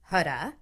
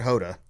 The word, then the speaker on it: Huda: Is it Huda or Huda? I think it's pronounced Huda. It's not Hoda.